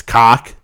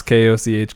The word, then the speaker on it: Koch: Because it looks like because it's spelled Koch. It's cock. I would pronounce Koch cock. Yes. Would you really? Cock. Yeah. Yeah. No. 100% no. Koch.